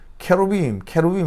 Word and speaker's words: 케루빔: 뭐 어떻게 발음하는 그룹 케루빔 하니까 이게 그룹으로 이제 들렸나 봐요. 케루빔 하니까 그룹이 아니고 케루빔이라는 천사입니다. 천사.